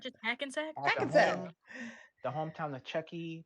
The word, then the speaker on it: Hackensack: well, you already know this one, but how do you pronounce this I can- town? Is Hackensack. it not just Hackensack?